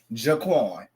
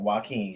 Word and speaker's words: Joaquin: I seen Jaquan. My bad. So yes, girl, Joaquin, y'all, everybody.